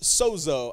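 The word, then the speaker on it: σώζω: throw it up there it's pronounced Sozo I like to put the Greek up there because it reminds me like trying to read a foreign language is really difficult sometimes but that word is just pronounced Soo turn the person to your right and say Soo to your left go ahead now to your right right say so and to your left say zo and to your left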